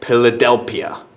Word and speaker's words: Philadelphia: And PH is pronounced as a P, so Philadelphia, for example.